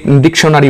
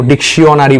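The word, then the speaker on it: dictionary: ফলে ডিকশনারি বা কেউ কেউ ডিকশনারি বলে, কেউ ডিকশিয়নারি বলে, আসলে তা নয়, ডিকশনারি এরকম উচ্চারণটা হয়, এই জিনিসটাই আমরা শিখব।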